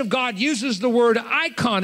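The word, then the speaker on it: εἰκών: He's instead, by inspiration of God, uses the word icon. It's spelled in Greek E-I-K-O-N. The E-I is pronounced I.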